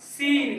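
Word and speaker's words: scene: सी ई एन ई इसको हम लोग पढ़ेंगे सीन क्या पढ़ेंगे सीन सीन अब य देखो साइलेंट डी कब डी साइलेंट रहता है जी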